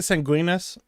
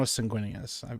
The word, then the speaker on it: Sanguinius: Well, I was calling it Sanguinus. Sang Sanguinus, but I know Sanguinius.